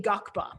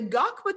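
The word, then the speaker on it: ngakpa: and our lama lamatashi is a gakba that's spelled n-g-a-k-p-a so i encourage you to google that and in the gakpa tradition they are not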